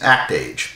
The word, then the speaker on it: Act-Age: That series is, of course, Act Age. I know it's pronounced Actage.